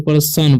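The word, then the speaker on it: person: ठीक है, जैसे में SON सन में तो बेटा होता है तो अ पढ़ते हैं ना, उसी तरीके से यहाँ पर O का उच्चारण अ होगा, तो पर्सन। ठीक है, तो पर्सन पढ़ेंगे।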